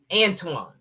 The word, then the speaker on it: Antoine: Like, even when I met you, with all due respect, you know, everybody mispronounces my name. I've been called Anthony, Antoine, sometime, but Antonio, Antone, Anthony, Anthony. Right. Pronounce it. It's Antoine. Antoine.